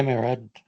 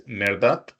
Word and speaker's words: Merdat: Hi, Merad. How do you pronounce? I'm sorry, So, Merdad? yeah, actually, my name is Merdat, and but you can call me.